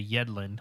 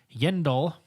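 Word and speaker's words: Yindel: yen yeah indole i i keep wanting to say yedlin like deandre yedlin the defensive player for the u.s men's soccer team yendal rhymes with kindle um anyway there's a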